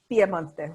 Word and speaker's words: Piemonte: in the Piedmont, or as you would say, Piemonte, right? Did I say it right?